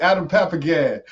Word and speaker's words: Papagan: So however you want to pronounce my name is fine with me. No, let me get it right. Adam Papagan.